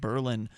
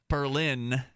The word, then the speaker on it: Berlin: London, Madrid, Paris, and Berlin. The company, which is also, I'm sorry, I pronounced that the New Hampshire way. Berlin is how you pronounce it the international way.